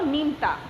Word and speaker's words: নিমতা: নিমতা একবারে উচ্চারণ হলো নিমতা।